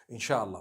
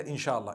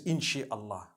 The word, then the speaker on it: inshallah: in means to create no one says inshi Allah they say insha Allah that's what it